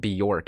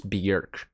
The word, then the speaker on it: Björk: I think they said the pronunciation isn't Bjork, it's Björk.